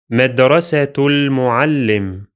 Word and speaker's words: مدرسة المعلم: So the sound or the syllable that links the two words is tul, مدرسة مدرسة المعلم. This phrase is pronounced as if it were one word, like this.